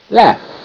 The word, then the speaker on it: laugh: In this case, it's making the short A sound, ah, ah. Like la, ah. Laugh.